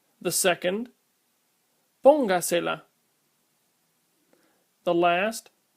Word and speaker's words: póngasela: The first one is pronounced escríbaselo. The second, póngasela.